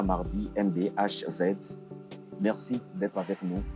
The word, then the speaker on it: Mardy: Oui, j'ai comme nom d'artiste Mardi MBAZ. Mardi, ça s'écrit M-A-R-D-Y.